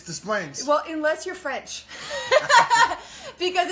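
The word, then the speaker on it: Des Plaines: It's Desplaines.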